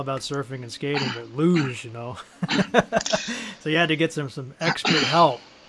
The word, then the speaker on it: luge: Well, one thing before we move on from these game series, I heard you talk about the, is this luge? Is that how you pronounce this? Luge? Luge, yeah.